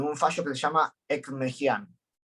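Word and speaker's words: Ekmekdjian: fallo que se llama Ekmejian. Ekmejian se escribe Ekmekedjian.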